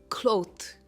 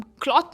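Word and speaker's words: cloth: इट इज़ क्लोथ। हम क्लॉथ नहीं कहते। इट इज क्लोथ। इसमें ओ की साउंड आती है।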